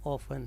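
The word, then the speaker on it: often: इधर एक वर्ड है ऑफन, कुछ लोग इसको ऑफ्टन पढ़ते हैं, बट जो इसकी प्रोनाउंसिएशन है वो ऑफन है। मतलब ब्रिटिश और अमेरिकन इंग्लिश में ऑफन ही लोग बोलते हैं इसको, तो डोंट से ऑफ्टन।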